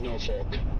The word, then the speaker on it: Norfolk: As a former Nebraskan, it is no folk. Thank you. Thank you. There's also a ton of Nebraskans that pronounce it folk, but it doesn't make it right.